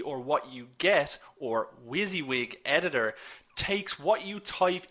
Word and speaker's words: WYSIWYG: WYSIWYG, that's what I said, and how that's spelled is W-Y-S-I-W-Y-G.